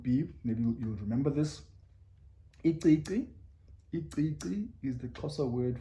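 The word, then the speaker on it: icici: And maybe to give you an example of a word that has in it would be, maybe you'll remember this, iqiqi.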